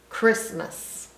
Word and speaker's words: Christmas: using our phonics skills so CH makes the ch sound so CH normally makes the CH sound but in this case it just makes the k sound Christmas so the r still